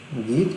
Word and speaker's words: Goethe: आ जाओ, गीत यूनिवर्सिटी। इसे कोई गॉथ भी बोलता है। ठीक है, आप अपने हिसाब से प्रोनाउंसिएशन कर लेना, क्योंकि हमारे इंडियन इंग्लिश अलग है, अमेरिकन अलग है ना, ब्रिटिश अलग है।